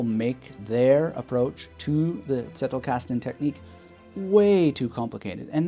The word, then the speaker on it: Zettelkasten: Now you might prefer to pronounce it Zettelkasten, but I like that Zettelkasten because, as one of my German teachers told me back in the day, if there isn't spit on the mirror when you're using the letter Z in German, you're not using German.